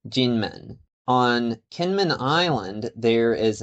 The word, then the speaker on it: Kinmen: In English, it's called Kenman or an older sources Kimoy. In the local dialect, it's pronounced something like Kim and it means Golden Gate. In Mandarin, it's actually pronounced Ginman.